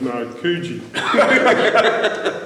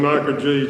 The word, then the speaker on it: Narkoojee: he started to educate him on the correct pronunciation of now kuji he's got from makaji to nakuchi and thanks for that thanks for watching introduction